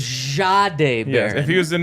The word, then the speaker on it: Jahdae Barron: What I love about Jahdae Barron, and you could even go Jahdae Barron if you want to get real correct with the pronunciation. A little Z at the front. That's what Sean gave us. He gave us a very French way of saying Yes.